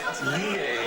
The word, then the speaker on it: Lillet: It says, when looking at it, I'm sure it must be pronounced Lillet, I suppose.